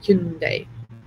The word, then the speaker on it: Hyundai: I'm so paranoid about pronouncing that word now because I've spoken to Korean people who say it's Hyundai.